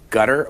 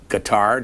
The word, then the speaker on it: Qatar: talked christopher hitchens you've been in gutter or in guitar depending on how you want to pronounce them you mingle the woods